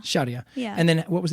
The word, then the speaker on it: Sharia: sense it's sure Sharia large how do you pronounce it again Sherea Sherea yeah and then what was the other thing